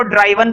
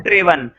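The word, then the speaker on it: driven: और ड्राइव की third form होती है ड्रिवन, कुछ लोग इसको ड्राइवन पढ़ते हैं, ड्राइव वन, ठीक है, लेकिन मैं पढ़ता हूं ड्रिवन, और इसकी सही प्रोनाउंसिएशन भी ड्रिवन ही है।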